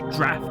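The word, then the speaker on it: draught: word because it's spelt dropped and it's pronounced draft and i'm just like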